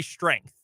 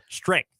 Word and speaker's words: strength: See, I would say strength. Like the ENG makes an eng sound. Strength.